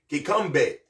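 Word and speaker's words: kikombe: k k i k o m b e kbe and that's the unity cup so then we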